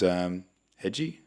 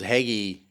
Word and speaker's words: Heggie: She was the MC, the judge, and then there was Hedgie. Oh, Luke Heggie. Yeah. Hedgie. So he did his stuff for like 10, Luke 15. Heggie. Sorry, Heggie. He. There's no D.